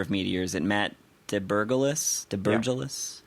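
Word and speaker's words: Debergalis: But the founder of Meteor, is it Matt DeBurgalis? Yeah. How do you say that? DeBurgalis.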